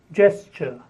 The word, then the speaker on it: gesture: geography the next is gesture Jess sure two syllables Jess sure the next is gigantic